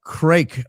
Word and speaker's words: craic: Uh craic, Irish pronounced crack, means great time.